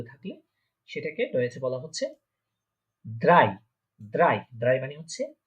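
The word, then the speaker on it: drei: তারপরে হচ্ছে পরের সংখ্যা ড্রাই, ড্রাই বা 3 যেটা আমরা ইংলিশে বলে থাকি 3 বা 3 বাংলাতে বলে থাকলে সেটাকে রয়েছে বলা হচ্ছে ড্রাই, ড্রাই, ড্রাই মানে হচ্ছে 3।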